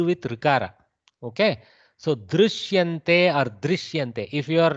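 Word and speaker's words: दृश्यन्ते: Somewhere between you, actual pronunciation is somewhere between ru and ri.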